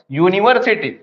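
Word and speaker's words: university: यूनिवर्सिटी। जब इसको pronounce कर रहे हैं हम तो बोल रहा है यू यू यू य या तो य से आपका बनता है यूनिवर्सिटी तो जब य आ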